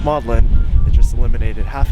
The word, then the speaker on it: Magdalene: list for today maudlin I always thought it was pronounced Magdalene but no it's pronounced maudlin it just eliminated half